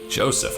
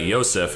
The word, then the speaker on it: Joseph: Joseph, huh? I would have pronounced that Yosef if she hadn't said that.